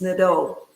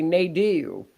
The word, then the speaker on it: Nadeau: So it's French, correct? Yes. It's Nadeau. Nadeau. Oh, in Kentucky, we'd say Nadeau. Yeah, I usually say Nadeau. It's easier to spell than when you tell somebody it's Nadeau.